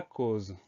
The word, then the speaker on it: cause: Ensuite, on a le son Z qui s'écrit avec un S, puisqu'il est entouré de part et d'autre de deux voyelles.